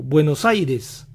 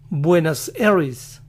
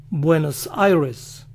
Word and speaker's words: Buenos Aires: lo dicen buenos días aires se parece a aries eres y la van a pronunciar así buenas eris buenos aires el angloparlante que sabe